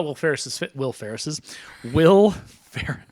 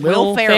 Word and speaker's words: Ferrell: And no, when I saw Will Ferris. How do you say his name? Will Ferrell.